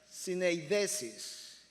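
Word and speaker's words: συνείδησις: En griego la palabra conciencia se pronunciaría algo como esto, quizás syneidesis, cuyo significado literal implica conocimiento conectado, aquello que está conectando lo moral con lo espiritual.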